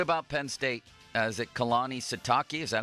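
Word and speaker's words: Kalani Sitake: Is it Kehlani Sitake? Is that how you pronounce his last name? Keani Satakei.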